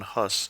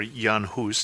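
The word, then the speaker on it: Jan Hus: call the Protestant Reformation John hus or yanus depending on your pronunciation in Prague also was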